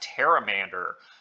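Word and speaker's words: Pteramander: from there we've got taramander uh the p is silent much like in Jordan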